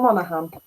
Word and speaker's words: Monaghan: So, and I was looking, I thought, does that mean the silent G then? And it does. So Monaghan.